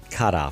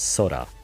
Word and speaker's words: 空: It's the kanji for kara from karate, which kara means empty. The other one, te, means hand. But in actuality, this kanji has another pronunciation, which means sky, and the pronunciation is sora. So this kanji has two pronunciations.